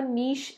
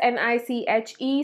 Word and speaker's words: niche: First of all, a niche is a very specific category. It is spelled as N-I-C-H-E. Some people call it niche, some people call it niche.